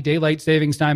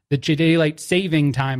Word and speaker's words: daylight saving time: you care about the daylight savings time at all, about the daylight saving time, I should say. I should say it correctly. There's no S at the end.